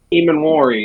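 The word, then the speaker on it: Emmanwori: I E- can't, Eamon Warry.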